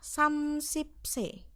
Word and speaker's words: 30세: Ini bacanya adalah samsipse. Samsipse. Oke. Yaitu artinya 30 tahun.